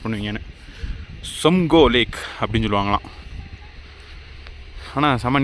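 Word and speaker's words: Tsomgo: உள்ள மிலிட்ரி ஆஃபீஸர்கிட்ட கேட்டேன் இந்த லேக் எப்படி ப்ரொனவுன்ஸ் பண்ணுவீங்கன்னு. சம்கோ லேக் அப்படின்னு சொல்லுவாங்களாம்.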